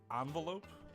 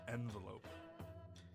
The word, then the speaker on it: envelope: speak English I guess is it how do you pronounce it envelope or envelope because I do both